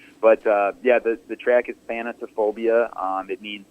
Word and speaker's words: Thanatophobia: is a weird name and really hard to pronounce. But yeah, the track is Thanatophobia.